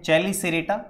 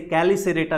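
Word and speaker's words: Chelicerata: चैलिसेरेटा, कुछ किताबों में या कुछ लोग प्रोनंसिएशन में से कैलिसेरेटा भी बोल देते हैं, सिर्फ उच्चारण का अंतर है और कोई खास अंतर नहीं है।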